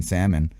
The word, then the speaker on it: salmon: You don't pronounce the L. Is it like salmon? You don't say the L? I mean, if civilization is crumbling down, we might as well just start pronunciating the L in salmon, right?